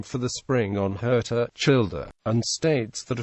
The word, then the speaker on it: Hirta: Steele adds weight to the idea, noting that the islanders pronounced the H with a somewhat guttural quality, making the sound they used for Hirta almost Kilta.